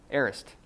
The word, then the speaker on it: aorist: Who wants to try number 4, pronouncing it? No, aorist.